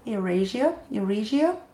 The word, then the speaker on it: Eurasia: I said it wrong the last time and my friend corrected me. So it's a tough word. Eurasia, because there's an A.